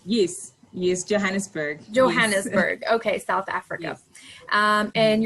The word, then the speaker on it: Johannesburg: like um no sorry you're in in johann jonesburg i'm not sure i'm saying it correctly yes yes johannesburg johannesburg okay south africa and you're a business